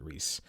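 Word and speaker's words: Reiss: And Mike Rice. That's how I pronounce it, Reese.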